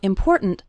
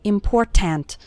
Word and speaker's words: important: The word more kind of runs into the word important, and the last syllable of important kind of gets reduced. We don't say important. We say important.